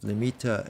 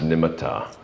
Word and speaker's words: nimitta: And so I see translation of nimitta as a sign, Let me jump in here real quick, Denny, with the pronunciation. I've heard it pronounced nimitta. Some people pronounce it nimitta. So either way, just so we know what we're talking about.